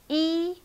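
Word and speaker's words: 一: number let's start from number one e e it's high flat tone e e okay number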